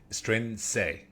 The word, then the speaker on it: Strianese: Strianese. Please, did I pronounce it right?